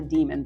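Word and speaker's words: daemon: each person has it's they call it a demon but it's spelled Damon and it's sort of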